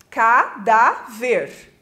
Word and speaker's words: cadáver: acento vamos pegar aqui a palavra cadáver a cadáver o da é a segunda sílaba de trás para frente ou seja a penúltima sílaba por isso eletrônica leva o acento porque é uma paroxítona terminada em Eve né então vai o acento no a tá quando a gente